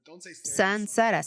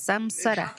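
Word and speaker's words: saṃsāra: Entonces la M con un punto debajo solo significa Sansara, Sansara, no digas Samsara. Sucedió en, no lo sé, los británicos cometieron ese error. Y se atoró. Todo el mundo empieza a decir Samsara, Samsara. Suena como el nombre de alguien, ¿verdad?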